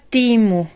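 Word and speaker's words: Temu: instrucciones de los videos me pusieron se pronuncia timu Entonces ya le llamaré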